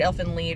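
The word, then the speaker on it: Elfen Lied: and Lead lied whatever I've heard elf and Lead is the correct way to pronounce it um basically yeah there's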